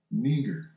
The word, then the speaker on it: Niger: It says Niger. It says Niger Christian a proper name. He blew through it. Okay. All right. Transliteration. Right here it says phonetic spell. It tells you how to say it. Neigger.